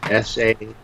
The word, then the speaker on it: Saharasia: It's S-A-H-A-R-A-S-I-A. It's a kind of a conflation of Sahara and Asia. Saharasia.